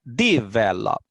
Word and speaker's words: develop: En la segunda sílaba tiene la acentuación fuerte, no en la última.